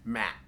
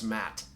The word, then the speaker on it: mate: caffeine naturally found in matte all right now i don't know if i'm pronouncing that right it's spelled mate but i believe it's matte so that sort of